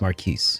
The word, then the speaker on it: Marquis: And I was like, or no, it was Marquise, is how he pronounced it, which was weird.